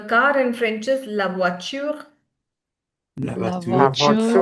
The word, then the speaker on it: voiture: So in this one, it's not voiture, not at all. It's voiture, voiture. Okay, we learned this in the pronunciation class. So in voiture we pronounce E as well, the ending E, So the right?